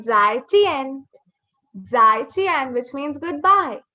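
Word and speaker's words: 再见: Now the letter J makes the sound ch. Ch. Ch se chappal. Zai. So we say zai chien.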